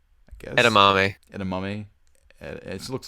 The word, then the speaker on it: edamame: All right, so Japanese food: sushi, soba noodles, udon noodles, ramen, miso soup, uh, endamame, I guess. Edamame.